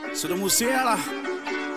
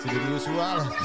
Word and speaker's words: Sidhu Moose Wala: Sidhu Musiala.